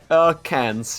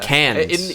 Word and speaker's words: Cairns: Is that how you pronounce it, Cairns? Cans, yeah. Cans.